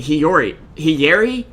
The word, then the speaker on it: Hiyori: Excuse me, Hiyori? Wow. I tried to say it like Ziori, but with a hi.